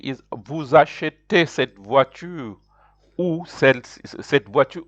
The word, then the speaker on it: vous achetez: So here the verb to buy begins with a vowel A. That's why you have to join it with vous. So it is pronounced like vous achetez.